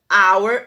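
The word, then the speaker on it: hour: Quando o H é mudo, como our e honor, e honest, nós utilizamos o an, ok?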